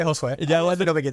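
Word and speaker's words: Josué: A lot of people, obviously my name is Josue, but in English you can't really say that. It's like Josue or something. So I say Josue.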